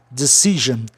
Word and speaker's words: decision: Aí a sílaba tônica fica em CI, decision.